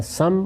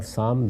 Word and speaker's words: سام: یافس دونوں تلفظ ہیں، اسی طرح سم اور سام دونوں تلفظ ہیں۔ ان کی اولاد آگے